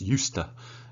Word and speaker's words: used to: And look at the pronunciation, it's used to.